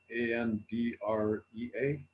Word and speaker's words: Andrea: do a youtube search for for andrea a-n-d-r-e-a but but pronounce it andrea because that's the way to